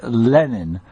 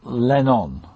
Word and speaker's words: Lenin: it's a bit overplayed to say Lenin because that's not quite how you say it but it's definitely Lenin not lenon okay yeah you that